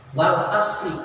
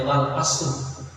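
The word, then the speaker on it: وَالْعَصْرِ: Wal asri, tidak boleh kita membacanya wal asru atau wal asro, nah harus dengan majrur.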